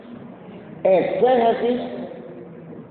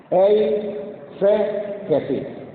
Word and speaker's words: exégesis: Exégesis se escribe con X. Exégesis, pero la palabra la voy a decir más despacio para que me la casten, ¿verdad? E se Jesús.